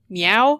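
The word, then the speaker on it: Myau: And a cat named Meow? Meow. M-Y-A-U. Space cat. That's why it's spelled that way.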